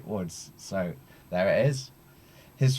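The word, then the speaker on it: Łódź: born in Lords Poland it's spelled with l-o-d-z but my polish friends havely corrected me at one point to say woods so there it is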